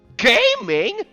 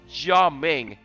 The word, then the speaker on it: Gaming: lion dancer guy named gaming uh with the memes I'm sorry it's not actually uh pronounced like that it's actually pronounced jaming and it's a pyro